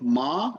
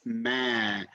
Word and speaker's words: ما: Some people say ma. It's not ma, it's ma.